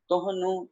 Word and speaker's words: तोहनो: पहली पंक्ति मनीष कुमार जी, गावें तोहनु कौन पानी। अच्छा यहाँ पर ध्यान रखना है, तोहनु नहीं पढ़ना, तोहनो, ठीक है। ओड़ा लगा हुआ है तो ओड़ा ही उच्चारण करना है, तोहनो, ठीक है।